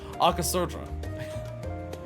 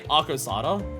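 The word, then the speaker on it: Arcasodara: I keep forgetting the order of the syllables here. Arkasodra. Because I keep wanting to say Arkosada, and I'm just like, no.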